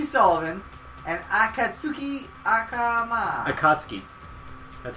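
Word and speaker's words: Akatsuki: in a James P Sullivan and akatuki AK akatski that's how you pronounce it how do you know Japanese [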